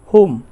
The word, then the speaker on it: whom: এখানে উইচ শব্দটার ক্ষেত্রে কিন্তু এসটা সাইলেন্ট থাকবে। তাছাড়া বাকি যে আমাদের ডাব্লিউএস কোশ্চেন্সগুলি রয়েছে তার মধ্যে হচ্ছে WHOM, হোম, হোম, হোম।